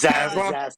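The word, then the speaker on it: Zaslav: This guy who's David, I've forgotten how to pronounce his last name. Is Zaslac. Zaslac.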